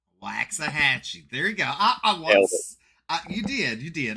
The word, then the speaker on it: Waxahachie: On another note, it is Waxahachie. Waxahachie.